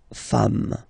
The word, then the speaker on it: femmes: singular form, and then you just add this S at the end, and as we said, you don't pronounce it, so you get des femmes, okay?